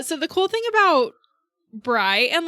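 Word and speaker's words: Brigh: so Bri is spelled b r i g h and as much as I can tell it's pronounced Bri but I have also heard it as Brie okay so we'll go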